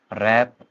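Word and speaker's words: wrap: डब्ल्यू कब silent हो जाता है, जब किसी वर्ड की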